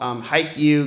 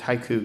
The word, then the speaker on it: Haiku: We did a campaign called Hike You Glenn Beck. Well, that's how you pronounce it. It's Haiku Glenn Beck.